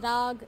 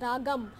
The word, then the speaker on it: raag: it forms its backbone in hindustani it is called as raag in carnetic it is called as ragam and many people also call it raga which is actually an